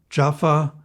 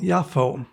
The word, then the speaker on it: Jaffa: and in verse 36 he specifies where this occurs japan jaffa jaffa other ways of pronouncing the name the town is located 10 miles northwest of lidah in hebrews called yaffo in modern english jaffa the verse introduces a